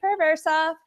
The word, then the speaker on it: Pereversoff: kee but like I said it's pur versa where did I begin basically I started off